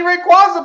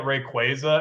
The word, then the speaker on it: Rayquaza: And they're in a fight, and shiny Rayquaza pops out, dog.